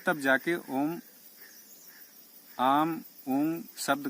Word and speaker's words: ओम: तो जो पीड़ा नाड़ी है वो पूरे दिन भर आ का उच्चारण करती है, एक स्वर से आ। और सुषुम्ना नाड़ी ऊ का उच्चारण करती है, ऊ। और ईड़ा नाड़ी अर्थात सूर्य नाड़ी वो माँ का उच्चारण करती है। तो इन तीन शब्दों का मेल हुआ ओम, इसको कहते हैं नाम।